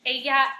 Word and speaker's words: ella: A lot of you are saying Ella and Elos. Remember, your double L makes a Y sound in Spanish. So ella and ellos. And you're going to be using those a lot throughout Spanish. Ella, ellos, ellas.